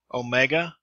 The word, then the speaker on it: omega: Omega is a O as in vote, so it's a long sound.